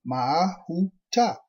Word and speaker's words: Mahuta: Tribe 10, Mahuta, pronounced Mahuta.